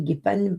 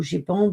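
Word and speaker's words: GEIPAN: Soit c'est la vraie vérité, oui, ça s'écrit comme ça, G-E-I-P-A-N, mais Jérôme, il a mis Guépane parce que ou Gépan pour me dire comment ça se disait.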